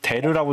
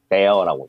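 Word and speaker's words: der: 태우어라고 읽는 거는 라틴어가 읽는 거고인데 이걸 데르라고 읽는 거 아닌 거잖아. 데어라고.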